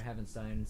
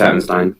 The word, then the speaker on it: Havenstein: Um offensive tackle Rob Havenstein or Heavenstein, sorry if I'm pronouncing that wrong. Yeah, it's Havenstein. It's Havenstein.